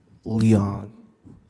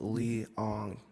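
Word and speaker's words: Leong: Uh, my last name is pronounced Lee Ang. Can you spell that? It's L E O N G.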